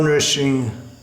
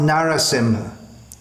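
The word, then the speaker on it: Nṛsiṁha: nourishing hama nursing home it's not Narasimha very commonly this is some noticing how madam but that's not the way it appears in the Shastras nourishing wish followers given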